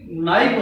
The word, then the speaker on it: knife: नहीं पता था कि इस शब्द में के साइलेंट है। तो उसने जाकर बोला कि कल्लू कनाइफ देना। कल्लू को ये पता था कि ये चाकू मांग रहा है, ये कनाइफ नहीं नाइफ होता है।